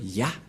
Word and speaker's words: Yah: Cette forme se prononce Yah.